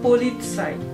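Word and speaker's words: Polizei: জেড তাহলে সেটির পূর্বে ত উচ্চারিত হবে যেমন পলিৎসাই যার বানান হবে পে ও এল ই সেট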